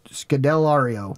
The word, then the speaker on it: Scodelario: Excuse my pronunciation. Kea Scodelario? Scodelario.